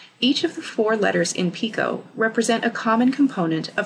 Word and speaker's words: PICO: This is the silent T in PICO.